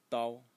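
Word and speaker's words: 刀: of writing this character over here, which is pronounced dao.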